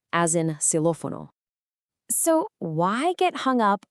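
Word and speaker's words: xilófono: The familiar kiss sound when it's inside a word, like in sex, but it's pronounced like a simple S sound when it's at the very beginning of a word, as in silophono.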